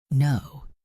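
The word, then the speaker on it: know: No, the K is silent.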